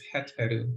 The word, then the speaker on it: Heteru: Is Heteru, and the het is being made by the box. So the box is pronounced het, it means house.